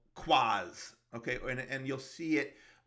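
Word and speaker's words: QoS: switches and your routers an access point called quas okay and you'll see it um you know labeled in these as q o s but it's pronounced quas right so it means quality of service so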